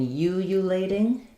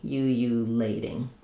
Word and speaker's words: ululating: the word ululating, and does the first syllable start with a Y sound? Yes, so in ululating, it's U. Oh, you can think of it as Y-O-U or Y-O-U. So U, not tating, ululating. Ululating.